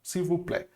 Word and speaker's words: s'il vous plaît: Aqui, ó, olha só, o A com I, de novo, fica E, ok? Nesse caso, s'il vous plaît.